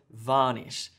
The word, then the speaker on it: varnish: like varnish for example so in English we say varnish so there's emphasis on the varnish and it sort of tapers out there there's there's more emphasis on this syllable this part of the word varnish than the second syllable if I said varnish